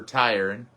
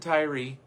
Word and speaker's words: Tyre: And we'll see for Tyre, T-Y-R-E. Some pronounce it Tyree. We won't tonight.